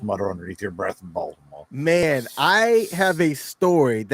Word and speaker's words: Baltimore: are from the area you don't pronounce the T in Baltimore you say ball dumb or I I realize